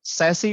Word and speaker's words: SASE: if you see here sassy basically we can pronounce as s-a-s-s-y that also we call sassy and also we can call as a sassy sassy so as up to you but the correct name is the sassy we can pronounce such as sassy s a double sy but it's always